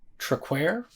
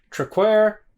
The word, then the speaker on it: Traquair: beer this is uh if I remember correctly it's pronounced truckware I believe I feel like that's wrong but but that's the